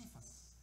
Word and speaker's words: Cephas: He appeared to Caiaphas. Most Americans say Cephas.